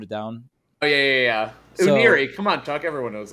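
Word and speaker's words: Unira: Because like, no, it's the Unari or Uniri. Uniri is what I think it is, but like they couldn't even really. I think Bill Trenton gave me the pronunciation. I was like, I'm gonna go with that.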